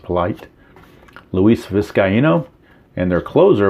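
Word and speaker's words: Politte: And then the right-handers, they have Bobby Jinks, Cliff Polite, I think it's pronounced Polite, Luis Vizcaino, and their closer was Dustin Hermanson with 34 saves.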